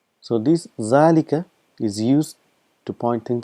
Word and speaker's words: ذلك: so if you know zalikal quite a lot in quran so again just reminding you that it's pronounced as zalika but this alif is omitted because of constant usage and it's written as